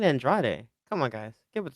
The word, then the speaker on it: Andrade: Just like people who say Andrade are just wrong. It's Andrad. Get it right. Yeah. Who's out there saying Andrade?